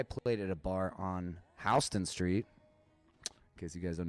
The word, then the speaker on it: Houston: at a bar on houston street because you guys don't know what that is that's a new york thing it's houston they just say it wrong i've just been picking